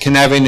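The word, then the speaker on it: Cynefin: This is the Canevin framework. Yeah. It's pronounced Canevin. It is a Welsh word.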